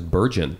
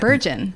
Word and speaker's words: Bergen: somebody calls you Erich Bergen? That one is always laughable to me. I always think that's funny because I was like, when have you ever put a soft G there?